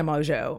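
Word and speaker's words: Mongeau: like who is tan Mojo Mojo which it's spelled differently it's like m o n g a u but she pronounces it mojo as what I'm going to go with and so tan Mojo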